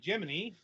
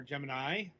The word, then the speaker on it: Gemini: Up this time is a game called Gemini or Gemini. Um, I suppose either pronunciation of that word is valid. Like, Gemini is usually the way you pronounce it as a zodiac thing, which I guess is the pun.